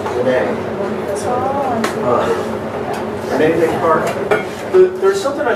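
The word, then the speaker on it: René: So make sure if you're supposed to have that little accent on the final E. It's not Reen, it's Renee.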